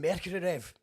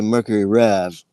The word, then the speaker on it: Mercury Rev: just also noticed that when an American says Mercury rev but I'm saying Mercury rev does that sound weird well I I say Mercury rev with the accent on the Rev but then I think Jonathan kind of says like Mercury rev the accent on mer so I don't I